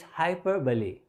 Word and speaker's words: hyperbole: Again, I think some people pronounce this word as hyperbole. It's hyperbole. Hyperbole.